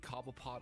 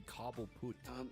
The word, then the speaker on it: Cobblepot: Even Gotham, of the show kind of changed the history and pronunciation of the name to be Cobbleput.